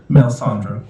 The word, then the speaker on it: Melisandre: So thank you, and tell me one more time how you want that name pronounced. Melisandre.